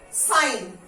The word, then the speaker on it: sign: तो ये अल्फाबेट जी अगर एन के पहले आता है तो साइन, गॉट इट, साइन। जी नहीं आता है, एस आई एन हम प्रोनाउंस कर रहे हैं, साइन।